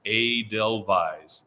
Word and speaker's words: Edelweiss: our most popular so how is it pronounced a del vise it's kind of like the the song you know and